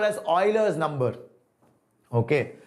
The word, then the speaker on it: Euler: constant or euler's number euler's number means e-u-l-e-r uh it's pronounced as euler not euler but everybody calls euler it's okay okay names can be pronounced anyway it's does it's not a big issue so it's okay you can call it jeweler or euler doesn't matter i'm not gonna get